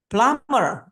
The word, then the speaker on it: plumber: The next, plumber. Yeah, the B sound is silent.